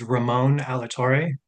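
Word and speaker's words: Ramon Alatorre: Yes, my name is Ramon Alator. First name is spelled R A M O N.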